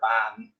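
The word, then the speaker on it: bean: Ban, it's just pronounced ban with the E essentially being silent.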